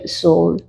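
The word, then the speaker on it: Saul: in English ഉദാഹരണമായി പറഞ്ഞാൽ ശൗൽ എന്ന പേര് നാം കാണുന്നുണ്ട് മലയാളത്തിൽ ഇംഗ്ലീഷിൽ അത് സ്പെൽ ചെയ്തിരിക്കുന്നത് എസ് എ യു എൽ സൗൽ പക്ഷേ പ്രൊനൗൺസ് ചെയ്യുന്നത് ഇംഗ്ലീഷിൽ സോൾ Abraham is എ ബി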